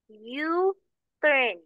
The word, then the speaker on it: U-turn: Because, because the letter U here, it is sounded as an individual letter. It is pronounced as U. U-turn. So U, it sounds like a consonant.